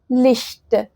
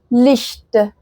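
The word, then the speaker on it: Licht: طيب زي ايه مثلا زي كلمه لشت لشت زي كلمه ايه برضو اش كلمه اش يعني انا اش وكلمه لشت لشت يعني نور او اضاءه تمام فماينفعش ان انا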